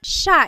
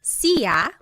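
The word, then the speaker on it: siya: look at the spelling it looks like it should be pronounced CIA but it's actually pronounced Sha Sha there are some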